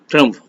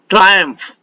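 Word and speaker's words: triumph: Word के pronunciation पे ध्यान देते रहिएगा, पढ़ने वाले पता नहीं क्या क्या पढ़ जाएंगे। ट्रम्फ, जबकि ये है क्या है? ट्रायम्फ।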